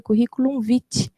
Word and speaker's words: curriculum vitae: até fazendo um adendo, ele se pronuncia curriculum vitae, que vem do latim, que quer dizer a nossa trajetória de vida, o nosso percurso de vida, né?